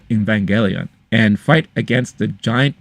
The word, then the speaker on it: Evangelion: When I was growing up, I remember I used to say Evangelion, but then I heard someone say Evangelion. I was like, wait, is that the right way to say it? And I found out that it was.